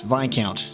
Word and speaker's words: Viscount: I think it's pronounced Viscount? Yes, Viscount is how it's pronounced.